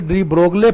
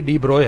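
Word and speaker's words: de Broglie: एक थ्योरी है डी ब्रोग की, अच्छा इसको बच्चे डी ब्रोगले पढ़ेंगे, डी ब्रोगले नहीं है, इसका जो असल प्रोनाउंसिएशन है ये डी ब्रोय है, ठीक है, डी ब्रोय।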